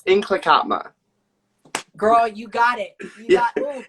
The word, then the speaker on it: Nlaka'pamux: It's definitely a tricky one to pronounce. Yeah. Say it again, girl. It sounds so good. I love it. Inklakatma. So there's like a roll in the tongue.